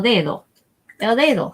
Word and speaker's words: dedo: for this row El dedo so again you want to make that D nice and soft sounding El dedo the accent goes or the emphasis goes on this first syllable though we use this all